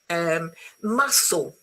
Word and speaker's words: muscle: February, muscle, you see, no C.